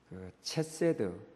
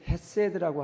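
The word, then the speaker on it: חסד: 히브리어 구약에 있어서는 체세드 원래 우리 발음에서는 이거 치읍 발언과 히읗 발음의 중간 발음인데 그래서 헤세드라고 하는 분들도 있고 체세드라고 하는 분들도 있죠 어쨌든 우리는이 중간 발음을 정확하게 내지 못하는 특성을 가지고 있습니다 이것이 바로 저는 헤세드라고 부르겠습니다 헤세드라고 하는 것이 궁률이라고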